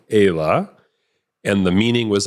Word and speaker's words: Aylah: We just say Ayla with, American accent or whatever.